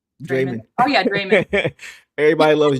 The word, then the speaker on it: Draymond: Organic says she pronounces it the way we say Raymond. Draymond.